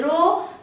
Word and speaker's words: rho: In other words I can write, equality form में लिखना चाहूं तो resistance is equal to, this is रो, this is pronounced as rho.